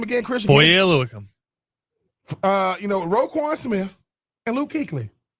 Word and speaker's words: Foye Oluokun: And then Jacksonville went and gave Foye Oluokun $15 million a year.